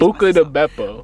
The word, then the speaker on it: Buca di Beppo: Because we always Buca de Beppo.